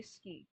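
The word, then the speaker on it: 好き: You don't have to say suki. You can just say ski.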